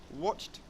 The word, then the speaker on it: watched: great movie last night watched with the soft T sound alrighty so we're getting